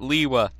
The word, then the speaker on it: Lewa: Lewa. It's Lua. It's Lua. Greg pronounces it Lewa.